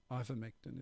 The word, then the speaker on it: ivermectin: find this bit here i think you guys are adding an n it's no n ivermectin isn't it um possibly could be